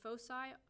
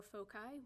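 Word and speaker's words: foci: where my fosi are my fosi or folai whatever you however you want to pronounce it are along the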